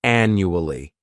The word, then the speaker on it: annually: first adverb is annually this word has four syllables and the stress is on that first syllable the second syllable it's like you're just saying that letter u and the third syllable has that schah enu Ali annually this adverb means that